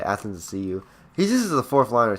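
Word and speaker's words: Athanasiou: I think it's like Athens to see you. Yeah, that's how you say it. Athens to see you.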